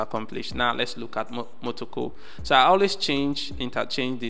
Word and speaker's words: Motoko: Instead of Mokoto, Motoko, I always call it Motoko. No, instead of Motoko, I always call it Mokoto. You understand what is actually spelled or pronounced Motoko, you know, programming language, ends with .mo.